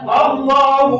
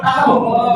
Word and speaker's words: Allah: Allah bukan Allah. A dulu Allah. Allah kita sering salah bacanya. Allah salah. Awas bukan maha agung. Allah Allah. Allah a dulu patah.